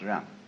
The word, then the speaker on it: Ren: In Confucius philosophy, the fundamental virtue of a human being is called Ren, spelled Jen for reasons best known to Chinese scholars. I don't know what they are, but it's pronounced Ren.